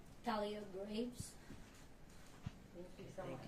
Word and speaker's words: Thalia Graves: Do you want to pronounce your name? Thalia Graves.